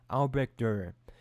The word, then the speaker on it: Albrecht Dürer: As told by Og Mandino, there lived in a tiny village near Nuremberg, Germany, a man by the name of Albrecht Dürer.